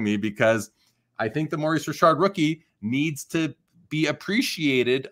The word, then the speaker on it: Maurice Richard: was known as Rocket Rashard his name is Maurice Rashard you'll hear people who don't know that refer to him as Maurice Richard because that's fair they just don't know but it's Maurice Rashard and the rocket Rashard his brother was AI